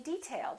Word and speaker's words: detail: say detail or detail if it's a noun we say detail that's an interesting detail first syllable stress this is a hard